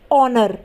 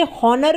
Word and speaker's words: honour: उसी तरीके से HONOUR, ऑनर। बहुत से लोग इसे हॉनर भी बोलते हैं, जो कि बिल्कुल गलत है। तो ऑनर में भी H आ रहा है, लेकिन H क्या है, साइलेंट है, यानी कि हम H को नहीं बोलेंगे। हम क्या बोलते हैं, ऑनर।